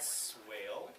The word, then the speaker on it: Swaile: Suellen the end my name is swale sorry that's again um I've set it up like this before because people always find really fancy ways to pronounce my name which is excellent the people are putting forth an effort but if I owned in a workup it would be whale brad swilley it's fun you know it's you guy